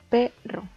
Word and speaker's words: perro: Podemos ver que está dividida en 2 sílabas y que la sílaba tónica es P, perro.